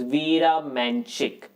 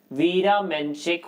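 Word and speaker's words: Vera Menchik: check name so apologies if i get the pronunciation a little off right okay all right the answer to this question is veera manchik and the year is 1927. okay veera menchik won the world chess championship in 1927 for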